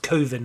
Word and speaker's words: Coven: finish Borchardt's short film Coven, pronounced Coven in the movie.